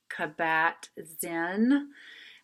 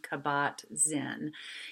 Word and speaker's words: Kabat-Zinn: say his last name, Kabat-Zinn is how I'm pronouncing that. That could be really unfair, but it's spelled K-A-B as in boy, A-T hyphen capital Z-I-N-N.